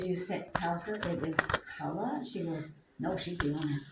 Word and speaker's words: challah: Challah. Say it after me. Challah. And my granddaughter goes, she was saying challah. I said, did you tell her it was challah?